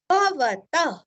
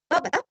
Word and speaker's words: भवतः: भवतः, विसर्ग का उच्चारण हल्का सा ह, भवतः।